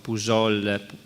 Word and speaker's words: Pouzol: Allora, avete capito che presenta questo studio di cui Atelier Le Balto, di cui Pouzol, infatti in francese non si pronuncia la Z.